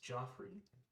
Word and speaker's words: Geoffrey: My character's name is Joffrey. It's spelled Geoffrey. But he insists that it's Geoffrey.